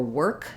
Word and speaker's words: work: a D sound or work you can think of that as being were plus a k sound um when there's an